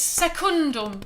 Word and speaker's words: secundum: Hildegard, it's secundum with a N for nuggets, please. Not a M for mother.